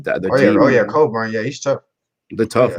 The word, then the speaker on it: Cockburn: think it's just because i know that's not how you say his name but cockburn he's a dog i feel like in like that oh yeah colburn yeah he's tough they're